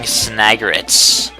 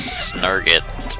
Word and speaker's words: Snagret: The burrowing snagrets. Something I pronounced wrong for years. I always thought it was snurget, but that I was young.